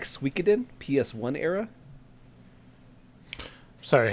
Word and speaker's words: Suikoden: The JRPG turn-based combat looks a little like Suikoden PS1 era. Sorry, how did you pronounce that?